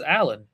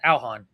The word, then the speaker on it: Alhan: And some people, like yourself, will pronounce it as Alan, but it's pronounced Alhan.